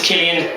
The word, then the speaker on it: Cillian: so my name is Killian with the ca this is not uh a familiar spelling with the word and it is not pronounced San billion jillion or any other derivative that you could ever possibly imagine or that my seconde